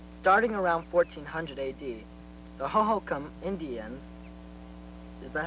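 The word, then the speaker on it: Hohokam: paragraphs for us starting around 1400 ad the hokam Indians is that how you say it I believe that tribe's name is pronounced hokam it doesn't matter Mark go ahead the hokam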